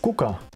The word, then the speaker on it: kuka: So you can have a KK and then another consonant. I can't think of any word that has that. Yes, but I agree that for Sini just wrote kukka, and that means flower, and kuka with one K would be who?